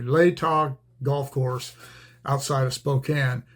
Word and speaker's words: Latah: But I played a round of golf at the it's pronounced Latah. I never could figure out how it was pronounced. The guy finally told me Latah Golf Course outside of Spokane.